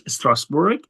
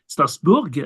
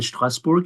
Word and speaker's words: Strasbourg: as we say in German Strasburg in French pronounce it differently it's part of France yes is a part of France of course stasbor that's just stasbor as they call it in French and in German Strasburg as I mentioned and they have a very